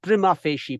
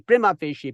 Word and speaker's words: prima facie: not Prima facing right it is prima facie prima facie Prima fishy Prima fishy not Primo face he has many of us pronounce it all right so your